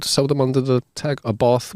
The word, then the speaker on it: Abarth: them under the tag abath which technically should be called abart what ABA should be pronounced